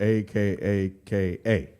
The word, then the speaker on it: Akaka: by Senator Daniel a Kaka the last name is spelled a-k-a-k-a yeah say their last name again a Kaka